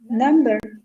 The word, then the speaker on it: number: it's very easy peasy if there is m and b sound after in any word we don't pronounce the b yeah the example was